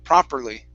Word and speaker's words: properly: this last word here instead of pro properly it's pra with an ah sound proper properly yeah probably good good